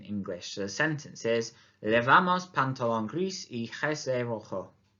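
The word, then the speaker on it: pantalón: you're absolutely right of course it's skirt wouldn't pantalon une pantalon une pantalon oui bien trousers you'll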